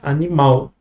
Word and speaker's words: animal: Então, por exemplo, olha aqui, animal. A gente pronuncia o ao mais forte, né? Animal. No inglês, não. Animal.